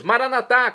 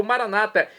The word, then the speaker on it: maranatá: E agora eu clamo do aramaico, dialeto de Jesus, maranatá, como dizemos nós católicos, ou maranata, como dizem nossos irmãos separados, evangélicos ou protestantes, não importa a pronúncia, o significado é o mesmo.